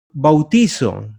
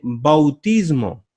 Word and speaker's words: bautismo: bautismo incorrectamente en sustantivo mucha gente dice bautizó no se dice bautizo se dice bautismo se puede decir bautizo pero con énfasis en la última vocal se utilizaría así